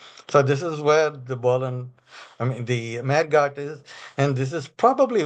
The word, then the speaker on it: Mehrgarh: It's like Chandigarh, I think. Mehrgarh is how I pronounce it.